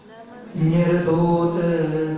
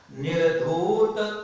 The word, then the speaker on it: निर्धूत: नमः श्री वर्धमानाय निर्धूत कलिलात्मने सालोकानां त्रिलोकानां यद् विद्या दर्पणायते। बोलिए। निर्धूत में बड़ी मात्रा लगी, उसका उच्चारण निर्धूत करिला में थोड़ा जोर देना। निर्धूत बोलेंगे तो छोटा ओ हो जाता है, उससे अर्थ अलग हो जाता है।